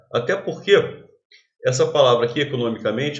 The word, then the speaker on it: economicamente: Até porque essa palavra aqui, economicamente, é uma palavra derivada. A sílaba tônica, que era no, era uma palavra proparoxítona, a sílaba tônica passa a ser men.